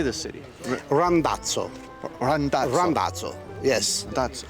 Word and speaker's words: Randazzo: Randazzo. Randazzo. Randazzo. Yes. That's Randazzo.